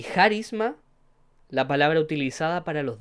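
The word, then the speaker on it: χάρισμα: Y en este versículo, en la palabra dones, se pronuncia en griego charisma, o también escrito de otra manera carismata, no lleva tilde, y, pero viene de la palabra raíz charis.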